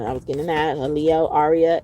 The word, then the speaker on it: Arya: Leo, Arya, Arya, like on the show Game of Thrones.